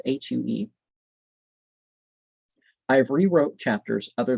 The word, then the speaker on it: HU: sang her hue divine it is pronounced as hue i have rewrote chapters